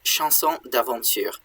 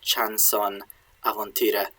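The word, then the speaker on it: chanson d'aventure: uh the idea of chanson Devonshire um that's how it would be pronounced now but um it was more like chanson avantira in old French what that means is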